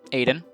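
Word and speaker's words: Aydn: name is actually it my name actually is aiden um i just changed the lettering of it to make it cooler because as uh the way it's spelled is kind of how i wanted it to be always build a a y d n but i've added you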